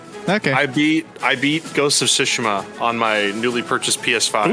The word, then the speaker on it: Tsushima: I know it really Tsushima is the way to name. It pronounce just sounds so funny to me when people say it.